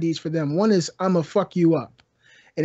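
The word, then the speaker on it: IMAPHUKYOUUP: One is I'm a fuck you up, and it's spelled I-M-A-P-H.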